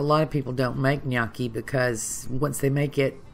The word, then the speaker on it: gnocchi: going to make nyaki yes you've probably heard it pronounced differently as have I but it's nyaki and I'm going to